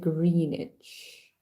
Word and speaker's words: Greenwich: the green greenish one it's spelled Greenwich but you read it greenish means I don't even